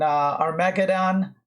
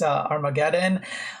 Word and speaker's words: Armageddon: to Ricardo Nakamura in our mecha don I'm just quoting Hikaru Nakamura of course it's not pronounced our mecha Don it's Armageddon but we love Hikaru